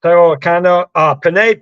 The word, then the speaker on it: penne: It's penne. It is pronounced penne, and that's how.